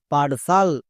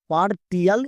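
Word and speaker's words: partial: আই এ এল সাল পারসাল একে আমরা ভুল করে পার টিয়াল এরকম উচ্চারণ করবো না তাহলে ইংরেজি রিডিং পড়তে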